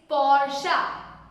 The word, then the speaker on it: Porsche: Is it Porsche or is it Porsche? No, it's Porsche.